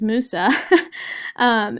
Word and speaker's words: Musa: this issue and Musa I've been pronouncing his name wrong I'm sorry his name is Musa is raising awareness for AIDS in this movie